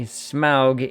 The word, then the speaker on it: Smaug: Smaug was what everyone called him. Smaug is what the movie did. And unfortunately, Smaug is also the proper pronunciation according to Tolkien.